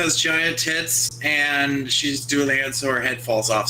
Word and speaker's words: Dullahan: giant tits, and she's Doulahan, so her head falls off sometimes. What? What? What? Okay, it might also be pronounced Dullahan, but we heard it Doulahan once, so we're gonna go with that one.